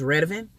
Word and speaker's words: Redavyn: The way you pronounce that name on my channel is Redavyn.